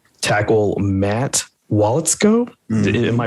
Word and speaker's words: Waletzko: But this other name, tackle Matt Waletzko. Mm-hmm. Am I pronouncing that correctly?